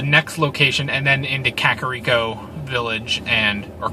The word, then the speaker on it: Kakariko: The first 3 map areas you get, which is the starting location, the next location, and then into Kakariko Village, or Kakariko Village is how they pronounce it, and Hiteno Village.